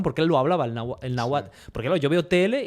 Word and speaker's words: náhuatl: Y todo esto es en lengua náhuatl.